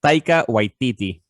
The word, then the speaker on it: Taika Waititi: It's Taika Waititi.